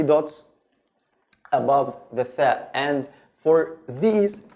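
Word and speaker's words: ثاء: It's tha. The standard pronunciation is tha, like the th in thin in English, the word thin, okay, in English.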